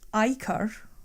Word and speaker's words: ichor: Sometimes pronounced ichor or ichor. I've always known it as ichor.